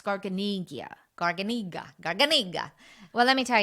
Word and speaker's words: Garganega: to say it yeah because italian basically you can say almost the way it looks garganegia garganiga well let me